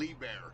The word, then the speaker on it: Liebherr: I was watching I don't know how you pronounce it, but the Liebherr. Yeah. Liebherr.